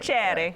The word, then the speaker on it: piacere: -Sbrocco: PIACERE.